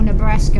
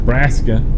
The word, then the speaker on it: Nebraska: Instead of saying it properly Nebraska, they say Braska. No, they say it properly. I actually used to work in Nebraska, Oh, I'm and sorry. they call it the state. They call the state by its proper name, Nebraska.